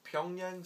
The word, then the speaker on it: Pyongyang: I believe it would be pronounced Pyongyang.